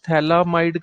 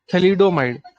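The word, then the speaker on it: thalidomide: थैलामाइड करके एक चीज आई थी। एक मिनट में मैं क्लियर कर देता हूँ कि स्पेलिंग क्या है। थैलोमाइड या थैलामाइड करके, थैलिडोमाइड है शायद। हाँ हाँ, थैलिडोमाइड।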